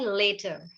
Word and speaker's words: later: But बाद में को English में बोलते हैं later, right? So the correct pronunciation will be later. Letter, later, letter, later. So letter means patra, khad, and later means बाद में. So letter, later, right?